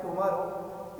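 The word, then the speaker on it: tomorrow: ये जो मैंने वर्ड लिखा है टुमारो, इस टुमारो का जो सही राइट प्रोनाउंसिएशन वो होता है टमारो।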